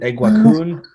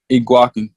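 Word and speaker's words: Eguakun: Is it Iguakin? Is it Iguakun? Kingsley Iguakin. Iguakin. Okay. Yeah, Iguakin? Yeah. Okay. Iguakin. Okay. Yeah. Good. We know that for the future. I've called him Iguakun, but Iguakin.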